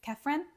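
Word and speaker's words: Khafre: Pharaoh that we're going to care about is kefren or kefra depends how you say it he's the one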